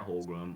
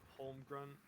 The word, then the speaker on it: Holmgren: Oh my God, Chet Holmgren. Whoa, how do you say his name? Holmgren? Holmgren, I believe.